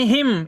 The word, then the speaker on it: hymn: क्या पढ़ेंगे, हिम, यानी हिम, HYMN, यानी एन जो है यहाँ साइलेंट रहता है, यानी एन का उच्चारण नहीं करते हैं।